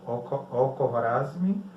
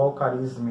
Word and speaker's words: Al-Khwarizmi: Como ele é uma representação simbólica, matemática, definida pelos hindus e árabes, é chamada de algarismo, que vem do matemático Al-Khwarizmi, ou Al-Kharizmi, né, como é chamado, Al-Kharizmi.